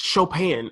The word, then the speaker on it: Chopin: cough ski beethoven it ch OPI in is pronounced Chopin and it everybody just